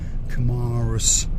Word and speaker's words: Kamaros: Over there, over yonder to the right, that is the lower part of Kamaros village, and that's how they say it. Kamaros, very posh up there.